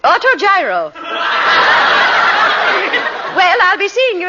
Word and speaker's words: autogyro: How do you pronounce it, Millicent? Autogyro.